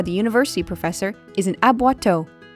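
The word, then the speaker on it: aboiteau: as mentioned by the university Professor is an abuato it's spelled a b o i t e a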